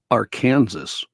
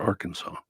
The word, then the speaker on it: Arkansas: I had a friend up until I haven't talked to him in years, but in our 20s, he was still saying Arkansas for Arkansas.